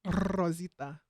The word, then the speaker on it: Rosita: Ooh, I also like but you gotta say it like this, Rosita.